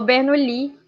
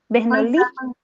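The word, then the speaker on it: Bernoulli: ah eu acho que falou bernui porque é francês aí o francês fala a última sílaba é mais tônica bernui Jacó bernui pronto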